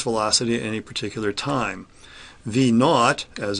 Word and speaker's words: V naught: V naught, as it's pronounced, is v at t equals 0, the initial velocity.